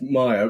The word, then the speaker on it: Meyer: Uh, only the pronunciation of my surname which you might need to record. Yeah. So it's it's Maya which only people who